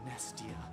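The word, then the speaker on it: Mnestia: be the Incarnation of nestia you don't you don't really pronounce the M it's kind of there deeper unable to get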